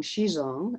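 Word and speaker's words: Zhizong: the early days so her name was shigong shizong and that's spelled z h i z o n g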